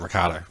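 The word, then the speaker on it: Ricciardo: last name is uh Ricardo that's how it is yeah that's how I always pronounced it I know it's not that way in Italian but I grew up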